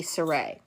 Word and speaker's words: Saray: It's very obvious the way it's spelled that it's supposed to be Saray.